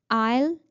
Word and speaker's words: isle: Ile is same pronounced as I will. The contraction of I will and isle are both pronounced the same way.